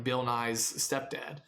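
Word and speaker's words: Nighy: science guy not that guy yeah this bill nye is n-i-g-h-y bill nye is that how you spell that yeah oh man that's weird anyways it's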